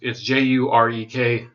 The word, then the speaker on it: Jurek: from last week, where Kyle Urek, I think that's the way his name is pronounced. It's Jurek, but I guess the J is the Slavic J.